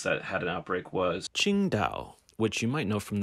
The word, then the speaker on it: Qingdao: famous chinese beer qingtao which is spelt a little differently on the beer it's spelled with a t-s-i-n-g-t-a-o the actual city name is spelt q-i-n-g-d-a-o but it's the same thing and it's the city